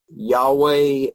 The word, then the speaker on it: Yahweh: God and talking about Yahweh and that the actual pronounced pronunciation of that was the breath once it's named the same sound as you make when you breathe and that your first